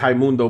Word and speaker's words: Raimundo: His name is Raimundo, but it's spelled Raimundo. That's that Portuguese for you right there. Them R's turns to H's.